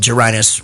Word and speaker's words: Jaret: It's off our album called Jaret Rhymes with Vaginas.